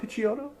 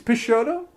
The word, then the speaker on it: Pisciotto: wrong nice it's peachy it's not piccioto it's pisciotto get out of here